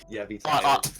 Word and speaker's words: vitae: Aquavitae because Vitae because yeah, Vitae. AE is pronounced as I in Latin and E is pronounced as E.